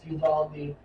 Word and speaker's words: Uvalde: But the how do you pronounce this? Uvalde police were arrested. Yes, Uvalde.